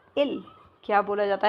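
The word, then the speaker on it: ils: इल। दे को क्या बोला जाएगा? इल। क्या बोला जाता है इसको? इल। क्लियर? इसमें एस भी साइलेंट हो गया है।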